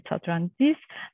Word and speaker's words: Satlantis: The pronunciation is Satrantis, demonstrated the technology using GEM's experimental platform.